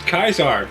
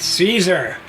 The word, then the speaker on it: Caesar: 4 taught me that it was actually pronounced kaisar back when they were around right yeah not Caesar but well even in